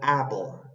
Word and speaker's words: apple: s y la palabra Apple esto es un nuevo sonido vocal es a a bien abierto Apple Y esa es al revés que está entre la p y la l casi no se dice Apple no es Apple